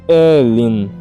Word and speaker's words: Aoilin: Mais tarde, muito mais tarde, ela me disse que era Christine Aoilin, que se pronuncia Elin, mas escolheu um novo nome quando se juntou às Irmãs Religiosas da Misericórdia.